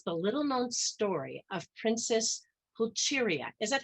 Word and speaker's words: Pulcheria: Faith Justice's book, Dawn Empress, tells the little-known story of Princess Pulcheria. Is that how you pronounce it, Dawn? Yes, Pulcheria.